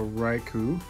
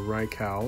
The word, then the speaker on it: Raikou: hallo guys we got a raikou or Rai cow depending on how you say it Aiko - hey guys